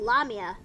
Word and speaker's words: lamia: y is it wait is it lamia or lamia I pronounce it as lamia same yeah who says lamia I mean I mean I mean here's the thing here's the thing like lamia sounds like lame which can also refer to someone who can't